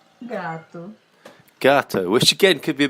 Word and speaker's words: gato: That'll be gato. Gato. Gato, which again could be a bit confusing, couldn't it?